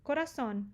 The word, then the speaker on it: corazón: Coração, já falamos. Coração, sílaba tônica no O. Por isso que tem acento, não é que seja coração. Não, é coração, tá?